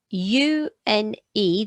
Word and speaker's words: une: So you go U, N, because the E is silent, so it's une.